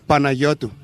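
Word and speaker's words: Panayiotou: I'm not sure about the last name but George Michael was certainly easier to pronounce. Happily heavenly birthday to George Michael. Paneayoto.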